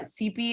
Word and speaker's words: Cepee: happy you got it rhymes with Pepe Pepe rhymes with Pepe